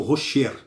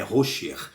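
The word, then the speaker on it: חשך: e criando então rosher aqui ele pronunciou errado ele pronunciou Rocher e não é rosher aí ele pronunciei errado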